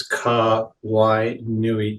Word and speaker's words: Kawainui: becomes really easy so if you look at the name then it just it's Ka y Nui just like just like Honolulu or Kawaii or Maui or whatever it is so if